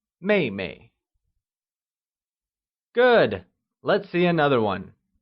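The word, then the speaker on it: 妹妹: younger sister translates as maymay it is pronounced using the falling tone let's try and say Meimei good let's see another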